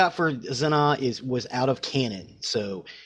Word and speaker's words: Zannah: It's pronounced Zannah.